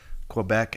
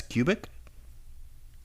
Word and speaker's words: Quebec: can you tell me why you pronounced uh the province quebec as cubic um and why you